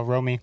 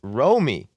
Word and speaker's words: Romy: Remy Romy Gonzalez. I don't even know how to say it, Mitch. Yo, Romy. Romy.